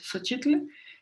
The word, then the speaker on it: Xochitl: La tercera es Xochitl, no lleva acento en náhuatl, la única diferencia que tiene con respecto a la adaptación es el acento, es Xochitl, es flor, como todos sabemos.